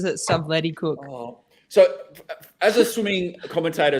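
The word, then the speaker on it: Stubblety-Cook: he actually said it he said it's actually pronounced subleticook but he said I don't actually care everyone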